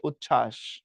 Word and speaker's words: উচ্ছ্বাস: তার সিস্টেমও আছে তো বফলা যুক্ত ব্যঞ্জনের সাথে যুক্ত হলে তার কোন উচ্চারণ হয় না তো উচ্ছ্বাসের মধ্যে দেখো